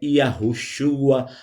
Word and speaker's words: Yahushua: E ao se referir ao filho do Altíssimo, ao Masia e a rush, nós vamos dizer o seu nome verdadeiro em hebraico, a pronúncia mais próxima do original, que é Yahushua Ramashia, ou filho do Altíssimo, ou ungido, ou masia ou rabi.